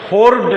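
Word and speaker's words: hoard: তারপরে বলছে হোর্ড, হোর্ড, হোর্ড না, আর এর উচ্চারণটা আসবে না। কেন আসবে না এর ব্যাখ্যা আমি তোমাদেরকে দিয়েছি। ভাওয়েল আছে, ভাওয়েলের পরে যদি তোমার আর থাকে এবং তারপরে যদি কনসোনেন্ট থাকে তাহলে ওটা আসে না।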